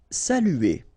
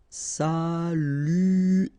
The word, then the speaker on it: saluer: Saluer. Okay, it can be quite difficult at the beginning. U here, saluer, saluer, saluer.